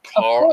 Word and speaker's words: Carl: Carl. I hate that name because I can't say it properly. Like it just sounds like I'm saying Carol because that's a Carol, Well, Carl.